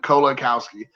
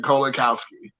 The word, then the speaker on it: Kolakowski: So it's Kolakowski. Now I pronounced it right. Kolakowski. Thank you, Don, for giving me the pronunciation. Kolakowski.